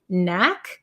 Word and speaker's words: knack: this one Knack um Knack is it has a k but we don't pronounce it so it's the same as the word no or knee there's a silent k followed by an N so Knack and be careful